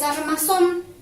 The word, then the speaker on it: armazón: El siguiente es armazón. Separamos en sílaba. Armazón. Se carga la voz en la última sílaba. Aquí termina en N, lleva tilde y es una palabra aguda.